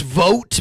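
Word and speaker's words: Vought: precursor to his leader his name is vote but it's spelled v ght that's that's weird ship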